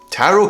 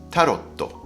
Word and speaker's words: tarot: And also remember the pronunciation of tarot cards is like a Japanese name taro and not tarotto, like you say in Japanese.